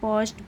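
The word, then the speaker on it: perched: form स the rooster पच्ड ऑन the tree तो क्या देखा रूस्टर को पस्ड यानी कि बैठे ऑन द ट्री यानी कि पेड़ पे तो यहां पे हमारा आर साइलेंट होगा इसे पोजड बोलेंगे ऑन द ट्री यानी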